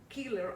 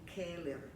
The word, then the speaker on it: Keeler: named streets in English, I'm pronouncing them the way they should be pronounced in Spanish, with the vowels in Spanish, okay? So instead of saying Keller, I'm saying Keller.